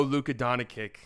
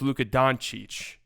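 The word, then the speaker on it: Luka Dončić: an idiot it appears we owe Luca doni in apology cuz we thought well actually it's pronounced Luca donich so we we've been getting that one wrong oh oh okay all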